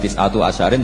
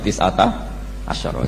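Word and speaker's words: تسعة عشر: Tetap bacanya bukan tis'atu asyarin tapi tis'ata asyara.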